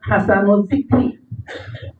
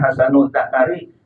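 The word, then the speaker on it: حسن الذكر: Kemudian summa hasanul zikri. Bacanya, maaf jangan keliru, jangan hasanul zakari, itu bahaya sekali, ya. Yang bagus punyanya itu lainnya. Ini hasanul zikri itu yang bagus sebutannya.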